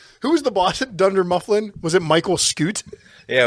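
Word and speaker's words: Dunder Mifflin: reference what was it thunder mufflin like I just what are you do just purposely mispronounce everything it's thund mlin you I've had a few beers Dunder mufflin what's Dunder what's Thunder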